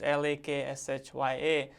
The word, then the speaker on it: Lakshya: So I have Laksh, which is Lakshya, which spelling and the pronunciation doesn't match.